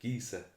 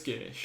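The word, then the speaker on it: geis: I always pronounced it Gisa. For some reason, I don't know. No, I think the SE is an SH sound.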